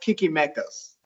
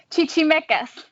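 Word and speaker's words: Chichimecas: wrong here yes well my wife said it's probably pronounced kikimekas chichi mekas oh see i was right i told her chichi as well and she said it's probably not right to say kiki oh it's it's actually chichi mekas they're well they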